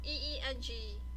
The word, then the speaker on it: Ingwaz: It's spelled Ingwaz. The pronunciation is Waza. It's Engwahz. So to me, I think it would be was it Ingwaz because it starts with an I, because it's also known as Ingwaz, Inguz, or Inguz, Enguz.